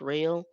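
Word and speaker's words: Roehl: our o eh L I believe I pronounce it roll but it's real and they actually have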